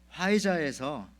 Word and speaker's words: 화이자: 그런데 여러분들 스펠링이 PHIZER이기 때문에 앞에 뭐 이제 P가 묵음인가 봐요.